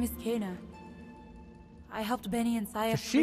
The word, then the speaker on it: Kena: My name is Kana. I helped Benny and Saya. So she pronounces herself Kana.